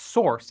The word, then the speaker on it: src: src pronounced source is a common name for the folder that holds uncompiled code in a project.